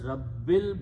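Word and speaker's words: ربِّ: So, lillahi, and again it continues on, but the Surah Al-Fatiha, that's how the combination is that Rabbul is pronounced as Rabbil because of this lillahi.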